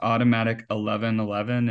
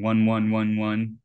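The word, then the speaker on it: AUTOMATIC1111: that one uh Jared just commented that it's pronounced automatic 1111 and it's blown my mind thank you so much because that makes so much sense and I've been saying one one1 this forever and that sounds terrible I'm pretty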